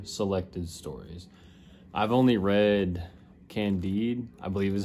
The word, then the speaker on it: Candide: I've only read Candide, I believe is how you say it.